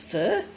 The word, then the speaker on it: pho: it fo is pronounced fur so it's actually fur not faux but I tend to